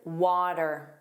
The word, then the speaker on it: water: This tells you that it's pronounced as a flap T. So it sounds like a soft D.